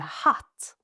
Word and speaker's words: hatt: Another example, hat, meaning hatred, and hatt, meaning hat. And as you can see, these mean very different things, and the only difference is how we pronounce the vowel and obviously how we spell it.